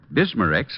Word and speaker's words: Bismarex: And finally, Bismarex leaves a soothing protective covering on irritated stomach membranes. Well, I'll have to remember that. Bismarex. Is that how you say it? That's right, ma'am. BISMA-REX. Bismarex.